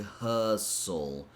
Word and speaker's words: hustle: I want to talk about this word here, and I'm not sure if you noticed, but we don't pronounce the T sound.